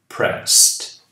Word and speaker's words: pressed: depois de de S tem som de T pressed Yes Frank answered the lift is coming O